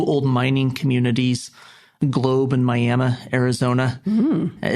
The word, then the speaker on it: Miami: missionary was two old mining communities globe in Miami Arizona not spelled like Miami but pronounced miam and they will